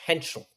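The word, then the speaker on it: Heintschel: Freshen freshman Mason Henchel.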